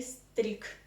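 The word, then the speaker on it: стриг: you need to know something about Russian devoising if you have this consonant good in the end of any Russian word you need to um pronounce it as a non-waste consonant so good transforms into K in the end of any Russian word so we write strig but we say streak streak than feminine strigly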